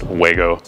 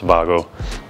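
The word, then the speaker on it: Wago: fixture he's got these Vago style connectors on here if you're American we usually pronounce it juego pretty sure it's avago if you're from from Germany where they're made but lever nuts right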